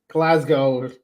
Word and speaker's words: Glasgow: you to come to glas Scotland yeah well we'll teach you how to pronounce it s Punk we'll teach you how to pronounce it you you don't pronounce the W Punk when we're saying